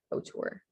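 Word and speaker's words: hauteur: and so the spelling for this is h-a-u-t-e-u-r o-tour all right um this one lots of french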